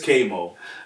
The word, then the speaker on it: Kvy Moe: That's all it is, but it's Kvy Moe.